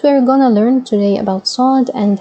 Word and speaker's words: صاد: Letter Saad, it's somehow similar to the S, but of course it's not S. If you remember, the letter in Arabic that's pronounced like the English S is called Sin, okay? Saad is different, it's like a graphy S. So of course it doesn't have an exact match or an equivalent in English, okay? It's somehow different.